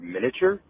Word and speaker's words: miniature: guys say the word miniature oh and you say miniature yeah i know it's spelled that way but the a silence you don't say miniature miniature danny am i a